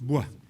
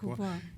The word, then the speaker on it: Bois: by, is it Kurt Boyce? How would you pronounce this? Bois. Bois. He himself liked to be called Bois. It's an old Huguenot name.